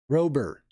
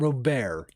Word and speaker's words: Robert: I heard a reporter ask him how to say his name, and he said the T is silent. Rober. Yeah, it's definitely not Robert.